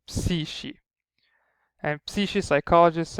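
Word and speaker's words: ⲯⲩⲭⲏ: And Psishi, you've seen a K coming, is followed by an E, a long E sound, so it just becomes like a sh sound, so Psishi.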